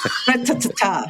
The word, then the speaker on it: Greta: Do you still pronounce it Greta? Or is it Greta? Greta.